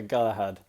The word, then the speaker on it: Galahad: It's gonna be Galahad? Is that how you pronounce that? Yeah, Galahad.